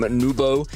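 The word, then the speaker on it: Nwpo: Nubo, in particular, as we have very much established. We fancy having a crowd of people chanting, it's pronounced Nubo, fair enough, Nubo it is.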